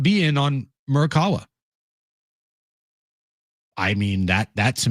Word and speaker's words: Murakami: So, it is pronounced Murk It is pronounced the way I've been saying it? Yeah, it's Taka. Murk Murakami? Yeah, you got the last name. Okay. Murakami. Murakami.